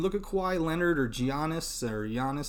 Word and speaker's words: Giannis: In those cases, I mean, look at Kawhi Leonard or Giannis is actually how you say his name.